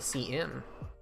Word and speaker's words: cin: Pronounced cin for character input.